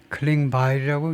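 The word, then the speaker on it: Klingbeil: 부총님 에스 클링바일이라고 읽는다고 나오네요.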